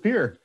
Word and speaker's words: Pierre: my name i'm we pronounce it pure that's hilarious um so